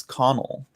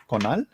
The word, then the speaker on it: Connell: Irish, and I said, oh, it's Connell. You know, it's like I was like, oh, that's how you pronounce it. So I know the Irish, but I see it, I'm like, Conal.